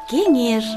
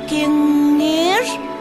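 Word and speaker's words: кеҥеш: Ой, точно, в слове кенеш есть интересный марийский звук «н». Когда этот звук произносим, язык к зубам не должен попадать. А наоборот, язык должен подниматься вверх к небам. Вот так.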